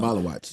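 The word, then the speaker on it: Maluach: pronounce it? I Yeah. don't know. Malawatch.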